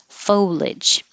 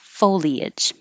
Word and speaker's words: foliage: can say foliage foliage or just two syllables foliage the dictionary said the two syllables is non-standard but that's the only one i use so if you want to be more correct use three syllables foliage ah this the